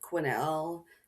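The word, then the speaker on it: Quesnel: Like there's the one in BC where we may have mispronounced this one where it's like quinnel but it's spelled like quznel and you're like if you don't know then it's just oh probably yeah or whatever.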